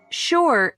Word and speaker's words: sure: Sure and sugar are the only two words in the English language that begin with s u and are pronounced shh.